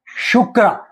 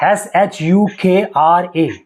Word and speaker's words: shukra: glamorous planet in Sanskrit how do you say shukra shukra shukra shukra s h u k r a shukra shukra shukra so it is Venus most